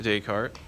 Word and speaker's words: Descartes: it is pronounced to Descartes because believe it or not he is not from America so you don't pronounce his name as if you were American so um Descartes but in your note